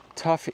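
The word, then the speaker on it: tuff: a lot of tough tough is uh formed from volcanic ash that is compressed and welded together it's not a particularly Hard Rock it's not spelled t u g it's spelled tuu FF but we see a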